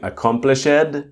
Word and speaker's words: accomplished: So again if you are pronouncing accomplished it's okay. A I understand because you can see the D, but you need to debug the pronunciation and start to pronounce with the T.